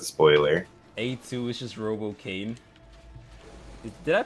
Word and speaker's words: Kaine: A2 is just Robo Kane. Did I pronounce that right? Yeah. Kane. It's Kane, right? I think it's Kane. I'm pretty sure it's Kane. Kane. K-I-N-E. Oh, Kaine.